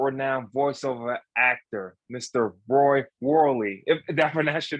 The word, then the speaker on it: Worley: here with world renowned voiceover actor Mr Roy Worley if that's your name wrong yeah that was actually pretty good most